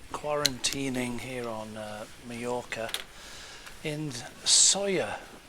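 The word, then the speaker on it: Sóller: here on majorca in sawyer spelt s-o-l-l-e pronounced sawyer on my way back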